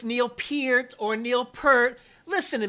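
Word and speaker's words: Peart: host interview him and say Neil Pier it it totally freaked me out when I first heard that you mean I've been saying as name wrong the whole time so we we went with Neil per the whole time growing up and The Lyricist genius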